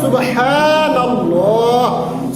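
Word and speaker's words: سبحان الله: শিখে গেলাম আজকের যে আলোচনার বিষয়টা সুবহানাল্লাহ তাহলে উচ্চারণ কি হবে সুবহানাল্লাহ সুবহানাল্লাহ এটা পড়তে হবে সুবহানাল্লাহ শব্দটি পবিত্র কোরআনুল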